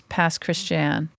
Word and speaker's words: Pass Christian: And then the actual pronunciation is Pass Christian.